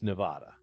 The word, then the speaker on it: Nevada: If you're not a resident of Nevada, it's Nevada. But if you live here, you're supposed to know. The correct pronunciation is Nevada.